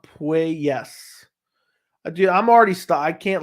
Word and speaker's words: Puelles: It's pronounced Puelles.